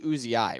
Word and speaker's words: Uzi: it just having Uzi it is technically uziyai right not Uzi we just always say Uzi because that's like it's amazing